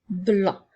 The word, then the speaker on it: blanc: Alors, dans le mot blanc, il y a le son B, le son L et le son AN. Attention de ne pas oublier la lettre C qui est une lettre muette.